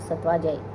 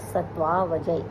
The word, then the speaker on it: सत्वावजय: ज़्यादातर जो बच्चे हैं, जो स्टूडेंट्स हैं, जो नया आयुर्वेद पढ़ने वाला है, वो इसको सत्वाजय इस तरह से बोल देता है, लेकिन इसके प्रोनाउंसिएशन पर विशेष ध्यान दीजिएगा। सत्वावजय यानी कि सत्व को विजित करने वाला।